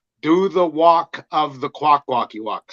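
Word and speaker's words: Kwakwaka'wakw: Kwakwakiwak.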